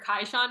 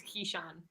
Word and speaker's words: Keyshawn: I asked him how to pronounce Keyshawn, if it was Keyshawn or Kaishan, and he says it's Keyshawn.